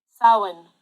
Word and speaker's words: Samhain: Samhain. Samhain. Samhain. Okay. Like Irish or something? Samhain. Yep. Old Irish.